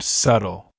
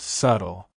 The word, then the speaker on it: subtle: subtle mistake here's a funny one the word subtle many Learners make the mistake of pronouncing the B like in subtly but in reality that be is silent so it's just subtle Sarah I have a very suly feeling about